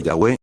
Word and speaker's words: Yahweh: En las versiones católicas, Yahé se lee Yahweeh porque la v es una u en el idioma latín.